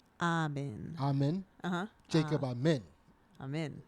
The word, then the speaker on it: Amin: I'm in. That's how you say his name.